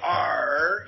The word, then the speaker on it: AARRR: But anyway, that acronym, AAR, if you pronounce it out loud, R, you sound like a pirate, and that's why it's called the Pirate Metrics.